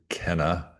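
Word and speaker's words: Kainai: Uh, the Canai nation spelled K A I N A I but pronounced actually Kenna.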